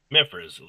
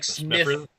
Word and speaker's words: Smiffers: It's DJ Smiffers. Smiffers, kind of like Smithers from The Simpsons. It's like Smiffers. DJ Smiffers. Kind of like you have like a cold, like Smiffers.